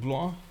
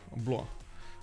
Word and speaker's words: Blois: Blois sounds like Blois. You pronounced it correctly. Oh, okay, Blois. Okay, sorry. Yeah, like the S, the final S over there did excuse me. And I was like, should I pronounce it? Should I not pronounce it?